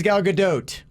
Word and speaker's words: Gal Gadot: gal gadot i'm obviously hello my name is gal gadot gadot goat if you're saying that that is